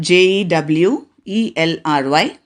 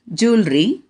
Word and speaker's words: jewelry: repeat the first word j e w e l r y american pronunciation is jewelry whereas british pronunciation is